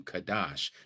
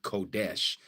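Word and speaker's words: קדש: The etymology of the word goes back to Kadash, not Kodesh, as they use these dots and dashes to get you to believe that this is how this is supposed to be pronounced.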